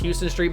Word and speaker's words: Huston Street: street or houston street i'm pretty sure it's pronounced houston street but it's spelled huston